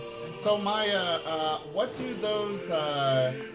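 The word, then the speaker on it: Maja: no maya it's same but in polish it's j instead of y so no it's maya but j is pronounced as yot okay okay i see that's why i use white in a worldwide use okay so for you with your pronunciations you'd spell it m-a-j-a yeah okay really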